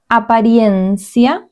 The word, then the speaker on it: apariencia: Apariencia. This is slightly different. Apariencia. This part, try to pronounce it because it might be a little bit different. Apariencia. I-E. Apariencia.